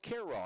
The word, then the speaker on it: Cairo: freshman from Cairo Nebraska spelled like Cairo Egypt but pronounced Carroll he would look that